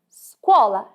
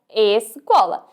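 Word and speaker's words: scuola: piate muito andar esola dizemos esola e não escola se a letra e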